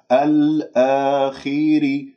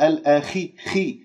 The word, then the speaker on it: الآخر: مفتوح لا تقول الآخر والخاء مفخمة مرتبة أخيرة مكسورة مرتبة خامسة الآخر ولا تقول الآخي لا تجعلها هكذا مرققة الآخر ري راء مرققة لماذا لأنها مكسورة وما هم لا تقول